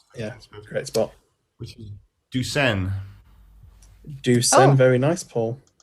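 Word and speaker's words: douçaine: French, Ducen. Yeah, I thought it sounded French.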